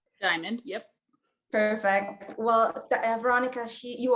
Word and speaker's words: Dymond: Dymond, am I saying it correctly? Dymond, yep.